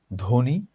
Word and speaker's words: ধ্বনি: শব্দের প্রথমে ব্যঞ্জন বর্ণের সাথে যদি বফলা থাকে তাহলে বফলার কোনো উচ্চারণ হয় না।